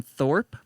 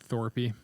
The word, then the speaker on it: Thorpe: name ash and then thorpe t-h-o-r-p oh there's no e no e it's not thorpy not thorpy he's cool though he